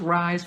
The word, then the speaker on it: RISE: Conferences, retreats, workshops, events, coaching programs, project management coaching programs, youth programs, which is the Rosa's Youth Empowerment Series, pronounced RISE program.